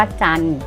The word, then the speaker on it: จันทร์: กน กัน นะ คะ เรา ไม่ ออก เสียง ตัว การันต์ นะ ต่อ ไป สวรรค์ อ่าน ว่า สวรรค์ ฮัน อ่าน ว่า คัน สรรค์ อ่าน ว่า สรร กัน อ่าน ว่า กัน จันทร์ อ่าน ว่า จันทร์ ทัน อ่าน ว่า ทัน